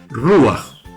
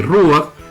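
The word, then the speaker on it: רוח: Entonces, la palabra que se traduce como espíritu en nuestras Biblias nace de la palabra hebrea que se dice ruach. La vemos aquí en este círculo de aquí, se lee ruach, se escribe tal como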